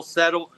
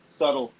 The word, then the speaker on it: subtle: kind of see real settle uh real uh settle I'm not saying it right but what's that how do you say that word subtle there you go yeah subtle I was saying settle you said no barking